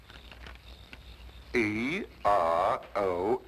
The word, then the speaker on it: Eros: She added an H where there shouldn't have been one. What? Then spell it as she spelled it, but without the H. E-R-O-S. Precisely, and here he is.